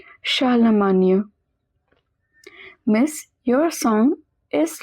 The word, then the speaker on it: Charlemagne: R in the middle is pronounced as H. GN is always pronounced as near. Charlemagne.